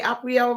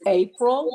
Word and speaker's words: Apryle: Did I say Apriel right? It's April, but that's April. okay. It's spelled Apryle.